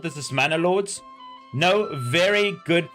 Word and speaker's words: Manor Lords: This is Manalords. No, very good pronunciation.